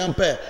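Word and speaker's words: ampère: Escreve-se ampere, mas a pronúncia é em francês, é ampere.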